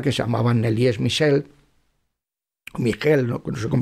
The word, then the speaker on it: Michel: se llamaban Elías Michelle Michelle se pronuncia en alemán porque era alemana y a Miguel este